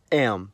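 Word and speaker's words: м: In the Cyrillic context, the letter's called am. It's used in every language that has the Cyrillic script, and the sound it makes is m.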